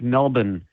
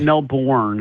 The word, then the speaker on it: Melbourne: He's back for um I've been pronouncing this wrong apparently. It's Melbourne. That's how you say it. In in Australia, it's not Melbourne.